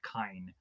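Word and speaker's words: Kyne: So we have Dr. Kine, I believe is the pronunciation of this doctor's name. Or I'll probably just call him Doctor anyways. For that way, I won't mispronounce this guy's name consistently if it's mispronounced. From what it sounded like Kine.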